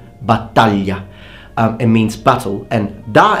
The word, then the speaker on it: battaglia: Now the word battaglia means battle, and please notice that the GL is pronounced ly, battaglia.